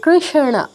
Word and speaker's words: কৃষ্ণ: শুধু রণ এর উচ্চারণটা একটু খেয়াল করে করতে হয়। উচ্চারণটা কি? কৃষণ কৃষণ কৃষণ স অর্ধ উচ্চারণ পূর্ণ উচ্চারণ কৃষণ কৃষ্ণ এরকম আচ্ছা তারপর কোন যুক্তাক্ষর